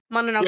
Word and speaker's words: Mononoke: Mononoke.